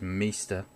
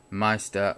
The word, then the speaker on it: Meister: I don't know if I can it says mister or Meister if you talk at punch diner language you'll know that more you know how it's supposed to be pronounced so that's Meister work is huge so they um I've noticed